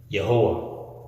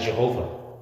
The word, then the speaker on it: Yehowah: Elohim, Yehowah. You may know him as Jehovah, the same God. It's just different pronunciations. But Yehowah is his name.